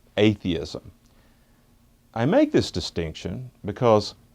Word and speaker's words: atheism: Although spelled the same, I'm deliberately saying this word differently from its usual pronunciation, which is atheism. I make this distinction because atheism need not be understood as an anti-religious or anti-spiritual perspective.